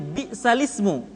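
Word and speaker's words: بِئْسَ الِاسْمُ: Bisal ismu dibaca menjadi b'salismu. Naql adalah memindahkan harakat hamzah ke huruf sukun sebelumnya.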